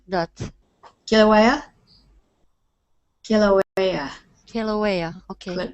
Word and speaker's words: Kilauea: Kilauea? Kilauea. Kilauea. Okay. Kilauea, yes. It's a Hawaiian word.